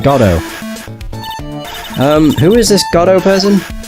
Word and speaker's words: Godot: His name is Godot. I think that's how you say his name. It's either Godot, Godot, or Godot.